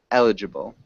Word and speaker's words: eligible: it's like accepted maybe eligible one more time eligible eligible okay yeah it's it's a hard one try to it's better you're getting better um it is emphasized on the first syllable maybe amp can you